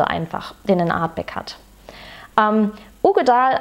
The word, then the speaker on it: Uigeadail: Ugedal als Name, Uigedal geschrieben, glaube ich. Ugedal ausgesprochen, kommt vom Loch Ugedal, der Name.